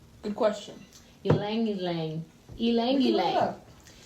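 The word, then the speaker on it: ylang-ylang: So we have rose, lemon, jasmine, lavender, my favorite, peppermint, and how do you say that, my yin yang? Good question. Ylang ylang. Ylang ylang. It's spelled Y-L-A-N-G.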